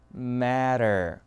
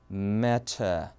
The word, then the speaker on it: matter: 알죠 문제 이런 식으로 미국에서는 matter 영국은 어떻게 하냐면요 벌은 고대로 살려요 그리고 R은 뺍니다 그러면서 터 다시 한번 matter 이렇게 발음을 하는 거예요 그러니까 이걸 모르면 들릴